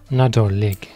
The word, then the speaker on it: Nadolig: Mais par contre, aujourd'hui, j'ai la chance d'avoir un invité de premier choix qui va nous donner la prononciation galloise de Noël. Nadolig.